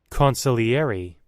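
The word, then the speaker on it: consigliere: Consiliary. Huh? That's how you pronounce that word, huh?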